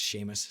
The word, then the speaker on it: Seamus: Of course it's pronounced Seamus.